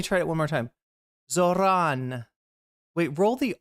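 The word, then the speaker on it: Zohran: I don't usually say burrito with a rolled R, but I say arroy with a rolled R. So Zoran. Something like that.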